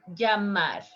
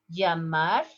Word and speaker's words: llamar: The verb call, like call by phone or call like waving a person, llamar. Listen the pronunciation. Llamar, llamar, llamar.